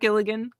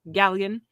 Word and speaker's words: Galligan: it the cast include Zack Gilligan gallagan not Gilligan Galligan Richard cotton Sarah Diamond